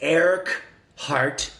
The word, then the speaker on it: Eckhart: It's Eric Hart, one word, phonetically said, Toll, spelled really weird and Swedishy.